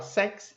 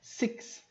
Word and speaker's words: six: Cuidado para não falar sex, e é six. O som de X.